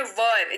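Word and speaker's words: were: नहीं पढ़ते हैं को पढ़ते हैं वर जी हां डब्लू ई आर ई इसकी स्पेलिंग होती है लेकिन पढ़ते वक्त पढ़ते वक्त इसको पढ़ेंगे वर क्या पढ़ेंगे दूल्हा वाला वर नहीं इसको इसकी इसका उच्चारण है वर जी हां तो वर मतलब वो ग्रूम नहीं ग्रूम अलग चीज हो गया है ना वर यानी कि डब्लू ई आर E spelling तो है पर उच्चारण जो है उसका होगा वर अर्थ इसका होता है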